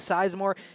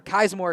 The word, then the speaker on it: Kaismore: On the running game, they've done a good job with Seismore or Kaismore, excuse me. I had to make sure we're pronouncing Kaismore.